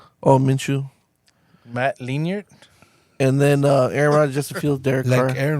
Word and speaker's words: Minshew: How do you guys pronounce it? Minshew. Oh, Minshew.